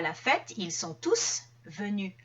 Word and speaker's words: tous: la fête ils sont tous venus à la fête tous va remplacer par exemple les amis donc étant donné qu'il y a un remplacement dans ce cas je vais prononcer le s en fait la prononciation